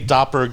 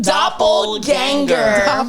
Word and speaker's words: doppelganger: So, what is a doppelerg? Why are you guys laughing? It's pronounced doppelganger.